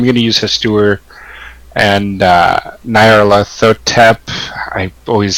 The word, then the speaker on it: Nyarlathotep: I usually say Nyarl at Hotep, because that's the closest to the Greek transliteration of Egyptian that we currently use.